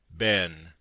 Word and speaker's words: been: Footnote: been is the correct American pronunciation. Been, as we have seen, is the English. But I have often found ben, rhyming with pen, in such phrases as I been there.